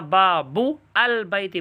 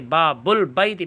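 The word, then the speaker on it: باب البیت: ہوگا۔ گھر کا دروازہ، یہاں با بو البیتی پڑھنا غلط ہوگا بلکہ با بل بیتی پڑھنا صحیح ہوگا۔ تنبیہ، لام تعریف سے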